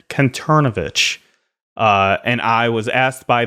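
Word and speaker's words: Kanterovich: Conturnovich. Conturnovich And I was asked by the then Sonic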